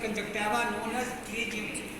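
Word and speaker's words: pterygium: इससे ये होता है, ये abnormal fold of the conjunctiva known as ट्रीजियम। ये ट्री साइलेंट है, बहुत से लोग उसको ऊपर ट्रीजियम पढ़ते हैं, पर ट्रीजियम सोने बेचने वाले ट्रीजियम।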